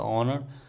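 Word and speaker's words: honor: ओ यू लेट see also before silent as words like a ऑनर are honest we कैन say example देख लेते हैं दोस्तों।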